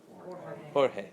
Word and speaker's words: Jorge: You know how to pronounce that? Jorge.